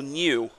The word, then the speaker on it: Nyu: It is Russell Nyu. Nyu. Nyu. One syllable.